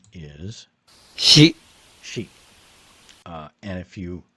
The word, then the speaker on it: 支: And the Japanese pronunciation is She she uh and if you uh remember from